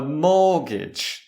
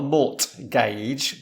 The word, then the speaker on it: mortgage: a house credit specifically a house mortgage a mortgage that's it not a mortgage but a mortgage silent T yeah and we